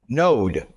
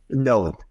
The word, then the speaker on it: Noad: I don't know how you pronounce his last name actually. No. No. Node. Node.